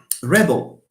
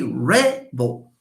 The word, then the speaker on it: rebel: So look at this. Rebel. He is a rebel. Stressful here. Alash, because it's a noun and it's two syllables. A rebel. But the verb, we say they rebel. So we have rebel, rebel. Rebel, rebel. Stress shifts.